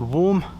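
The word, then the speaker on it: Warth: Well, it looks like it might be pronounced War, but it's spelled W A R T H.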